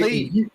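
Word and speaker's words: כלב: Kalev. Gotcha. Or is it pronounced Kalev?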